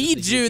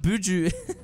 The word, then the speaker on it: Biju: Biju, not Buju.